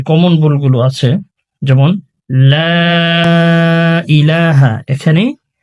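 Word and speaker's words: لا إله: লা ইলাহা, এখানে আমরা 3 সেকেন্ড টানি না।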